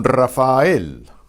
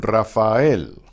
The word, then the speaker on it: Rafael: Don Rafael, Don Rafael. Now why is it fael? Because both of those vowels are strong, so they carry the weight of a syllable in and of themselves.